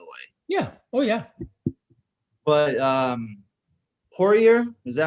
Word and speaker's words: Poirier: But Poirier, is that how you pronounce his name? Dustin? Poirier, yeah.